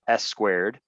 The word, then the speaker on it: SQ4D: just for little things sq4d which they pronounce s squared is a new york